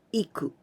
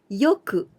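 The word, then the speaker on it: よく: change to adverbial form it's not iku but we must change this pronunciation to yo yoku it means well yoku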